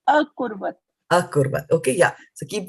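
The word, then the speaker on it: अकुर्वत: akruvat. Akruvat. Okay. And what is here? Akruvat. What is here? Kurvat. Sorry. Akurvat.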